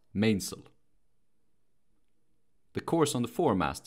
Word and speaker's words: mainsail: Though it's spelled mainsail, it's pronounced mainsail.